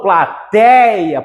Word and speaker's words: plateia: Aqui eu falo plateia, por isso que o ditongo é aberto, que eu falo mais forte, certo?